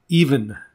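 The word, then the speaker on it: Ifan: name would be kevin even i-f-a-n is how they spell it and then kevin is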